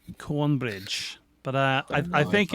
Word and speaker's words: Cornbridge: don't live in uh i always mispronounce it she said cone bridge i believe it's cornbridge but i i think